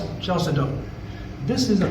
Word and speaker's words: chalcedony: There's three of these gemstones that begin with the CH as their first two letters. But in this case, it's a K sound like a cut.